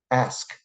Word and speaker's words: ask: The s comes before the k, ask.